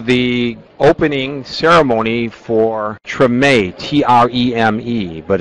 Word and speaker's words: Treme: Hey everybody, welcome to the opening ceremony for TREME, T-R-E-M-E, but it's pronounced TREME. It's not short for extreme, it's TREME.